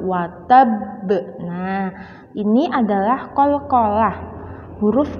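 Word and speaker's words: وَتَبَّ: Tapi membacanya lebih berat, lebih dipantulkan, lebih ditekan karena terdapat syiddah. Maka membacanya adalah tabat yada abilahabi watab watab. Tidak boleh biasa saja, watab salah karena terdapat syiddah.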